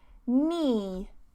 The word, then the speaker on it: knee: No, pronounce the same as no, okay? Knee, knee, knee.